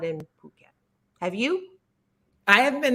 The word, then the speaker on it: Phuket: Phuket not you could you could pronounce it another way and I'd get in trouble with the FCC so but we'll say Phuket but it's p-h-u-k-e-t and